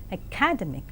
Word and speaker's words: academic: I know that you have read these words as dynamic, academy, academic, but now I would say that these words are pronounced as dynamic, academy, and academic.